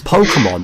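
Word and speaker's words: Pokémon: like no it's pokemon it's not pokemon it's pokemon that's how we say it in the west say it properly it bugged me so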